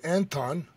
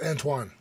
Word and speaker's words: Antoine: They say Anton, but that's like it's Antoine. Antoine. But, yeah, I've been hearing Anton.